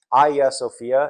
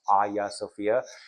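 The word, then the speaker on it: Hagia Sophia: Aya Sophia. It's spelled Hagya Sophia but pronounced Aya Sophia.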